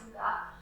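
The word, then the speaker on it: hygge: They're called Puga classes, although it looks like it says Heidi. They're pronounced Puga, which is a Scandinavian term for coziness of the soul.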